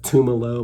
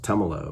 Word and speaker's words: Tumalo: I have a tendency to pronounce it Tumalo Mountain. I don't know why, but everybody always corrects me and says Tumalo Mountain.